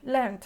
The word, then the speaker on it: learned: Porque el verbo aprender, to learn, puede ser regular o irregular, pero se pronuncia igual, learned, se pronuncia como aquí, learned, con una T.